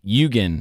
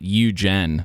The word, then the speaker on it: Yugen: people have done uh y yugen is how you say it not yugen which is how I said it before so what